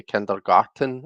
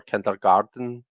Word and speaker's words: kindergarten: um, I always thought it sounded like you were saying kindergarten, as in like garden. Like, you've got a lovely garden, you know. Um, but it's spelled garten, so I don't know if I'm supposed to say kindergarten or kindergarten, or if anybody really gives a shit.